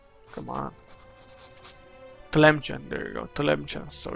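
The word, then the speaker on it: Tlemcen: But they have the Telemcen ally who has... Let's see... Telemcen... Really? No. Did I pronounce it right? Come on. Telemcen, there you go.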